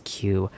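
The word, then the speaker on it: 九: Another fun thing in Japanese, nine is pronounced the same way as Q.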